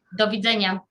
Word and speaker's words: Do widzenia: Do widzenia. Do widzenia.